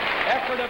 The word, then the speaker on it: Ephrata: This lady hails from Ephrata, Pennsylvania. Do I pronounce it correctly? Sure it is. Ephrata, Pennsylvania.